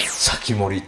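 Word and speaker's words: 防人: んうん、これで先森って読めないでしょ、うん、全然読めない。日本の一番先っぽを守るから先森というふうな読み方をして、これは当て字です。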